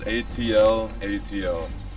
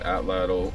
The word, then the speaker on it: atlatl: these are ancient what atlatl spelled atl atl you can pronounce it atlatl or atlatl so these are what